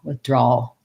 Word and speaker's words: withdrawal: And then probably the hardest is doing the all when you change it to withdrawal. So working on words like all first, that has the dark L. So I'm going to do the ah sound, a bit of a schwa, and the L. All. The back of my tongue stays down and the tip lifts for the L, withdrawal.